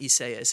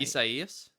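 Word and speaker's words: Isaias: year Ida that and it's not isaas it's is I can't even say it right isus yeah I think that's the way you're supposed to say that was last year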